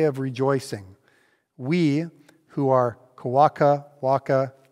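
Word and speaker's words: Kwakwakaʼwakw: rejoicing we who are kawaka waka oh i need to make sure i say it right i had it so good before i had to say it quack quack walk okay that's the name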